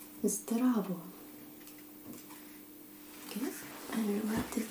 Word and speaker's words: Zdravo: If you meet a friend, you will most likely say Zdravo. Okay? I will write it down like this so that you will see it. Z, D, R, A, V, O.